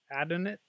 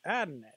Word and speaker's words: Adonit: to us from I'm guessing they're they're actually pronounced an Adin it Adin it addin it ad it so they're a maker of lots